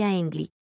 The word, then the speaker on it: 亨利: », contrairement au mandarin, il s'écrit 亨利 et prononcé « hengli ».